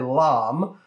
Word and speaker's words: lame: on YouTube use a French device called a LOM some people mispronounce it lame but that's just lame and that's completely unnecessary